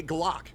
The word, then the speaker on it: Glock: That's Glock. Glock rhymes with cock.